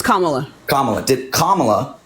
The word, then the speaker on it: Kamala: Did I pronounce that right? It's Kamala.